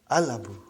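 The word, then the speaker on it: الْأَبُ: So without anything in front, I will pronounce it as al-abu. I will pronounce it as al-abu. So I did pronounce lam.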